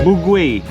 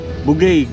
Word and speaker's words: Bugay: Bugway. Bugay crab capital of the North Luzon Philippines. So ang tamang pronunciation pala non is bugay. Hindi bugway.